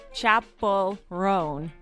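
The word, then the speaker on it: Chappell: Chapel-Roan. Chapel-Roan. Although I have heard it Rowan. Chapel. She says Rowan, though. She says Rowan? Rowan. Yes. Rowan. Yeah, Chapel-Roan. Okay. I still have trouble with that one.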